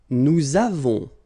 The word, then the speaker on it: nous avons: Nous avons, so you can put this little liaison, link between the two.